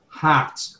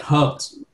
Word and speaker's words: heart: Number two, that about some of people here pronounce, you pronounce heart, not hurt.